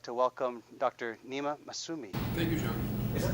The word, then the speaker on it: Nima Massoomi: Nima Massoomi. Thank you, John. Is that the right way to pronounce it?